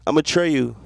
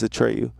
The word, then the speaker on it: Atreyu: I'm Atreyu. That's how you pronounce it. If you seen my name and was like, what the fuck? It's not ATR30U, it's Atreyu.